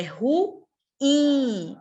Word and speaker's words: ruim: aula passada né mas vocês lembram que não é ruim pessoal é ruim a sílaba tônica é oxítona ela é acentuada Não não é acentuada